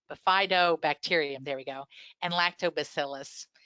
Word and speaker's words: Bifidobacterium: Two particular bacteria that we think are very good that are associated with breast milk are Bifido, I'm not saying it right, Bifidobacterium, there we go, and Lactobacillus.